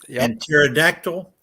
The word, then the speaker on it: pterodactyl: uh pterodon you know the p is silent george in the word pterodon pterodactyl that's why if one